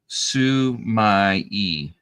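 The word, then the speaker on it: 墨絵: It is pronounced Sumai. It's a Japanese for black ink painting.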